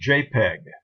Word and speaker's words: JPEG: for joint Point picture experts group and it's pronounced jpeg it's the organization that set up the standards